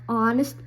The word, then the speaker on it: honest: our honor honest here we don't say the H it's not pronounced it's silent so an hour an honor an honest person so here that's